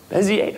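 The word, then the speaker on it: Bézier: How do you pronounce that first word? Bezier, fantastic, love it. Nice work. 9 times out of 10, guess what I hear? Bezier!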